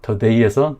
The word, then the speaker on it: today: 그래서 강세 표시가 있는 이 뒤에 음절 그러니까 today에서 day, the day 이 강세 음절을 강하고 크고 높은 음으로 강하게 발음을 해주시면 되는 거예요.